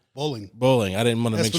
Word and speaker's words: Bowling: Bowling.